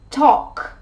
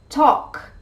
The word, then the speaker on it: talk: words in which the l sound is not pronounced number one walk walk i love taking long walks number two talk talk do you know you talk too much number